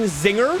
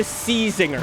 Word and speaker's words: Czinger: his name is Kevin Zinger what I don't understand is why the C is silent in the name just because I can